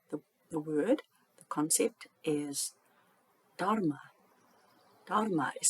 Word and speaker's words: Dharma: It's a Sanskrit word, and you're meant to say the H quite vigorously. I'm not too good at that. Sort of Dharma, sort of with that H sound.